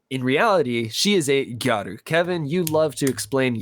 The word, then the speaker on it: gyaru: In essence, they are just saying girl, but there is a difference between gyaru and garu, like girl. Like there's like a slight pronunciation difference.